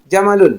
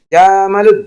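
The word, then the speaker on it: جَمَلٌ: Hisanun, jamalun. Nah, jamalun hati-hati juga karena ada siswa yang bacanya jamalun. Salah.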